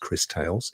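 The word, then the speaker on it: Cris Tales: It's been mentioned before, but we've now got a release date for it, which is, I think, pronounced Crystales, as in crystals.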